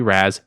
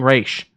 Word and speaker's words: Ra's: And for anyone that's going to argue, it is spelled R-A-S. I know it seems like it should be Raz. It's an actual word that's not English. It's fucking Raish, people.